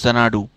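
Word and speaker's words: Xanadu: এটার উচ্চারণ হচ্ছে জোনাডু।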